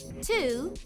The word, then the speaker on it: two: Two has two sounds. T, oo. Say those sounds with me. T, oo. The first sound, t, is spelled with the letter T. What letter? That's right, letter T. The last sound, oo, is spelled with the letters W-O.